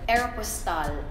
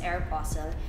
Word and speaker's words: Aeropostale: I got the chance to host for Aeropostale. They taught me that you don't say Aeropostale because I thought it was Aeropostale. You pronounce it as Aeropostale.